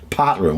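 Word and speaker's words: Potter Heigham: Partizan, we say. It's Potterheim is how it's spelt, but hey, the locals like to say it like that.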